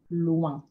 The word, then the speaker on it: loin: Next vowel and consonant combination, O-I-N, oin, oin. Two sounds, two distinct sounds. The letter O, most of the time it's going to be pronounced O, and then the I-N gets said separately. Un, un, oin. So the example here is loin, loin, which means far.